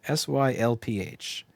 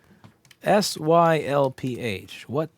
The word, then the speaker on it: sylph: She was a fairy and there's that word again, S-Y-L-P-H. I guess we're going to have to learn how to pronounce this if it's going to keep showing up. S-Y-L-P-H.